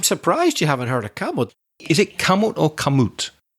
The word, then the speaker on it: Kamut: my eyes open come kamut I think is the pronunciation k a m u t kamut wheat Trio is